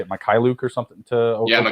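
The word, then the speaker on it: Mykhailiuk: I know they traded, how do you say it, Mikhailuk or something to Oklahoma? Mikhailuk.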